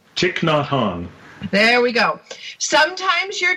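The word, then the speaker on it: Thich Nhat Hanh: pronounce his name I'm gonna let the Dean pronounce his name cheek not hung there we go sometimes your joy is the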